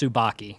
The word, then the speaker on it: Tsubaki: i don't correct you the name is pronounced tsubaki all right cool so